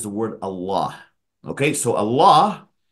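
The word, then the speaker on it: الله: Okay, so Allah, if you were to just pronounce it, is alif, lam with a shadda, and aha. This is how you would pronounce it.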